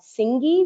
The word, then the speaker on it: Tsingy: There is an area there called Tsingy, which is spelled T-S-I-N-G-Y.